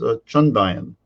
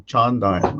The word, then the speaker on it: Chandayan: Indian Sufi text called Chandayan. Right? It's often mispronounced as Chandayan, when actually all the first two A's are long, Chandayan, right?